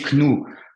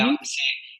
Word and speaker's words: knew: Donc, tu le prononces avec le E, mais tu vas pas me prononcer knou. Tu vas me prononcer comme au présent simple, avec le E. Donc, ça te donne. Euh, C'est new. ça se prononce exactement comme l'adjectif nouveau.